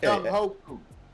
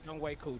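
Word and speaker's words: Younghoe Koo: It looked like Young Ho Koo. I'm gonna pronounce it Young Ho Koo. Young Ho Koo. Whatever. Hey, whatever. James, it's Young Way Cool.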